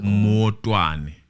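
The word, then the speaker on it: Maotwane: Motwane, I think. M-A-O. Spell it for me. M-A-O-T-W-A-N-E. Motwane. Motwane, yes.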